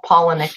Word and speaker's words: Palahniuk: of my favorite authors everybody pronounces that dude's name differently well Paula NIC is the correct way to pronounce it I thought it was